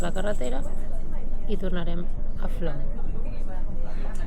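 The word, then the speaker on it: Flåm: carretera i tornarem a Flom, que s'escriu Flam, però es pronuncia Flom.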